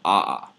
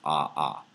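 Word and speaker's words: ʻaʻā: second one is called aha right in the Hawaiian language you pronounce all the letters so aa usually pronounce ah aha.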